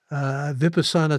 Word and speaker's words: Vipassana: He says, I have done a few Vipassana 10-day meditation retreats. Do you have any thoughts on Vipassana? Well, that's been kind of your calling card, hasn't it? Yes, or another pronunciation is vipassana, and It's one of